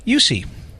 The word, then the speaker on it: Eucce: mcra mcera I knew I was going to mispronounce it and an old friend of ours yussi good morning afternoon did I get it right